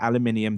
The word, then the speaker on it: aluminium: cool aluminium shell version yeah aluminium that's how it's pronounced I'm say stupid Americans people in the chat room having H me there's an eye next to the UN M write it down yeah